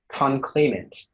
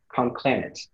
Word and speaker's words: conclamant: Your word is conclaimant, also conclamant.